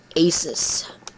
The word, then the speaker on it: Asus: English grammar rules and the company's name of Pegasus alright anyway trackpad there's